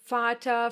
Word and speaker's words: Vater: Yes, the Germans will most of the time pronounce this letter like you would pronounce the English F. Like here in this number, 4. Some other examples are Vater, verkaufen, viel, vielleicht.